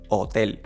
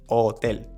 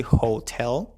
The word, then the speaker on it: hotel: So, this one is hotel. hotel Things to consider here. The H in Spanish is going to be silent. We do not pronounce the H. hotel Just ignore it.